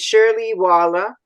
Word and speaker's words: Shirley Waller: a really special guest and her name is Shirley Walla am I right is that the way you pronounce it very good yes that's correct and